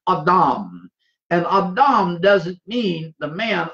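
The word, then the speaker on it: אדם: a.d I am but that's not how it's pronounced in the Hebrew it is the Hebrew word awdawm and abdomin mean the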